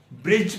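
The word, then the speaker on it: judge: अगर किसी वर्ड या लफ्ज में डी और जी इकट्ठा आ जाए तो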